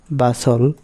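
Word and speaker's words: bustle: রুল নম্বর 11, শব্দে এসটিএল এর উচ্চারণ হয় সল, এখানে টি অনুচ্চারিত থাকে। যেমন বাসল, রাসল, নেসলে এবং ক্যাসল, এই টাইপের আর কি।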